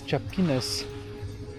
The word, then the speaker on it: chapinas: Is tiapinas how they say it? That's it. Yes, it is.